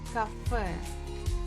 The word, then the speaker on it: кафе: Сходи в кафе. So the word cafe, the final letter is ye, but we pronounce it very strong, like cafe.